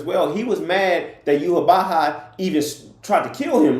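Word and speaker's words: Yhwach: Yuhabaha is not even spelled like Yuhabaha sounds. Like, it's not even close. I think it's like YWACH or something like that.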